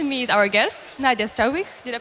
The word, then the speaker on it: Struiwigh: And next to me is our guest, Nadia Struiwigh. Did I pronounce right? It's fine. Struiwigh, yeah.